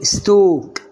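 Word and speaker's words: stalk: ستوك.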